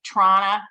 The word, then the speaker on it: Toronto: so i'm in toronto it's actually toronto is how you say it um and i want